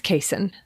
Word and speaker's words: caisson: Turns out that Google voice had led me astray. And the real pronunciation, as several listeners pointed out, thank you, is caisson.